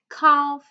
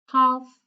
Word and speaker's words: calf: So I'll just give you a few more seconds to tell me which letter is silent in each of the words, okay?